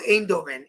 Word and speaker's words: Eindhoven: It's called Eindhoven. Eindhoven. Eindhoven. That's how they pronounce it.